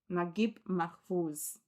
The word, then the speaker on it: Naguib Mahfouz: Naguib Mahfouz.